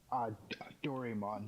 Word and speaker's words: Doraemon: I'm probably gonna say this wrong, but the first project up is Doraemon. Is that how you say it? Doraemon, yes.